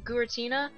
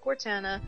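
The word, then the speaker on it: Guertena: from a friend that um gurtina that's how it's supposed to be pronounced that's what my friend told me it's not Gana it's supposed to be gurtina like I say that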